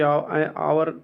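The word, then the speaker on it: hour: अगला है ही can finish this work in, तो एन आवर हो जाएगा, क्योंकि आवर पढ़ा जाता है, तो यह साइलेंट है, एन लगेगा और यहाँ ए लगेगा।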